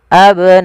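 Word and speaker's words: أبناءكم: Abnaakum mim mati bertemu wau sama dengan ketemu huruf sin yaitu izhar syafawi. Suara mimnya jelas.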